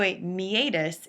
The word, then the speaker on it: meatus: you're responsible for in your lab manual so a meatus it looks like the word meetus but it's pronounced mius would essentially be the space beneath